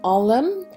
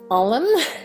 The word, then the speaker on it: Ailm: And I looked up a bit on how you pronounce this, and apparently it's something like Ailm, and it should sound like olive.